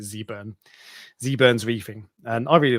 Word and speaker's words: Zurn: channel called Zurn and he's American so you pronounce it Zurn zurn's reefing and I